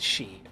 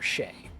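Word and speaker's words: sidhe: still pronounced banshee uh s-i-d-h-e in irish is pronounced she or shea very very close to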